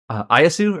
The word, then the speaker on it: Ieyasu: character Tokusawa Takachiyo is like the grandson of Ayasu or Ayasu. I might be mispronouncing it. Ieyasu.